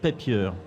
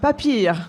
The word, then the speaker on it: Papier: Vous êtes vous incarnez la société Atling Papier je prononce bien ou papier pas vraiment mais papir en avec l'accent l'accent germanique.